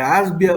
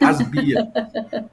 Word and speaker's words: ASBIA: certo de falar é ábia ou é asbia desculpa ignorante Asia imina que isso asbia se fosse asbia teria um acento no ar né então é asbia entendi asbia significa Associação